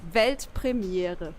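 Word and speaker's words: Weltpremiere: World premiere in German it's actually velt premiere I think I can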